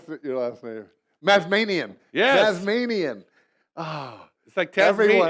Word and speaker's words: Mazmanian: his children and with me today is mesme no did I pronounce that you lastly mazmanian yes Manian Oh sectarian it's like tense any